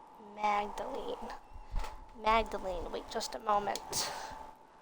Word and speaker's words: Magdalene: the end of the video to more fascinating pronunciations magd Magdalene Magdalene magdaline wait just a moment yes what is